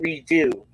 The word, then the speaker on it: Redux: And it's spelled Redux, but they pronounce it redo. So it's Apocalypse Now redo.